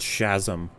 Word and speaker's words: Shazam: Shazam was all right it's pronounced shazm shazm Shaz how does Hollywood